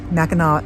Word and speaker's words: Mackinac: was two different cities same city same island Mackinac is how you pronounce it though yeah but you're going to